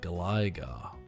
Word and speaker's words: Gligar: Gliggar is pronounced like glide. Really? Gligar.